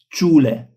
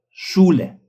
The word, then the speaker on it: Schule: for the consonants like s c h it is sh sh not s but sh sh Yeah you this is a little bit like not Schule, but Schule.